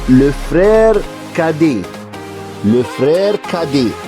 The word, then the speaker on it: cadet: le frère cadet ونخلي بالنا ان التي هنا silent او مياه. التي مياه او ما بتتنطقش عشان في كلمات كتير في الفرنسي ان في الحروف بتاعتها بتبقى مياه او ما بتتكتب بس ما بتتنطقش.